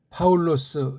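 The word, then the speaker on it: Παῦλος: 것을 아시면 되겠습니다 자 파울로스 됐잖아요 읽기를 그렇게 해야 돼요 근데 중요한게 여기 이제 아우라고 하는 건 단모음으로 발음해야 돼요 단모음 이게 두 개를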